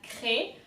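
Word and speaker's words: craie: And for the next color, we have cré. So again, like in noir, you have to pronounce R from deep down. So cr. And then AI is E.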